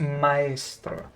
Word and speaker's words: maestro: Because usually it's maester, master, maester maybe, but never heard maestro, which in Italian would be pronounced maestro. You don't join the A and the E together.